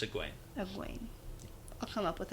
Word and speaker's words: Egwene: Don't worry, that's a hard one, and there's a lot of talk about how to pronounce that name, but it's Egwene.